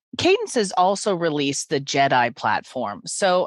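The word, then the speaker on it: JedAI: how we spell it is j-e-d-a-i which stands for the joint Enterprise data and AI platform and pronounced Jedi and what it does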